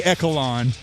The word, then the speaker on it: echelon: I've looked into it. It's echelon, and I used to say echelon, but it's echelon.